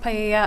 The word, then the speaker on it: paella: that was going to be used to cook paella. I'm not sure if that's how you pronounce it at the party. It's not. It was even worse than what regular people say. It's pronounced paella.